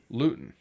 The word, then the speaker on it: Luton: or Latin England how would you say that spell it l-u-t-o-n Luton lewton so I was almost right and you know